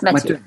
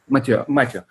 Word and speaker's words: Mathieu: And am I pronouncing his name correctly? Yes, Mathieu. Mathieu.